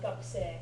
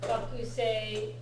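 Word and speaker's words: がくせい: Yeah, the audio, it does sound like gakusei. Okay. Right, yeah, that's fine. Gakusei is when you're enunciating every syllable, but gakusei is normal.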